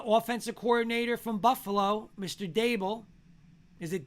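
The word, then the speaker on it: Daboll: week is the offensive coordinator from buffalo mr dabil is it dable is that how you say his name yeah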